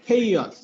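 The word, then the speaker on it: chaos: উচ্চারণটা হলো আমরা বলি খেওয়াজ বলি, আসলে খেওয়াজ না, উচ্চারণ হলো খেই, খেইয়াস, খেই।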